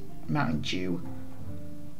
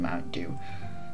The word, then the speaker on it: Mountain Dew: people in england especially pronounce it mountain jew like d-e-w is apparently supposed to be like jew but it's not it's uh it's supposed to be mountain dew and uh i'm pretty